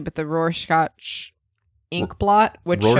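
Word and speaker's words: Rorschach: this correctly but the Roars scotch ink blot which Roarshock Roarshock is how they pronounce it in Roshock inkplot which shows up in the master coincidentally.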